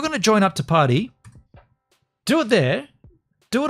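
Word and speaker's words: Parti: I think it's Party, but it's spelled P-A-R-T-I.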